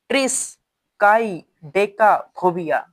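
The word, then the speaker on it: triskaidekaphobia: थोड़ा सा इसका प्रोनाउंसिएशन देखिएगा, ट्रिस काई डेका फोबिया। फिर से ट्रिस काई डेका फोबिया, ट्रिस काई डेका फोबिया। थोड़ा सा तोड़ तोड़ के इसको प्रोनाउंसिएशन करना है ना, तो इसको ट्रिस काई डेका फोबिया पूरा मिला के पढ़ो, ट्रिस काई डेका फोबिया।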